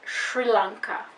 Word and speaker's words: Sri Lanka: is this country's name so in english this country is pronounced sri lanka because we don't have the combination sri so we don't really pronounce it like that when english-speaking people